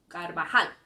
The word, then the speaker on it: Carvajal: How did I know to say Carvajal instead of Carvajal or Cabajal? I knew it because it ends in an L. It does not end in an N, it does not end in an S, and it does not end in a vowel. It ends in an L. So we stress that last syllable, Carvajal.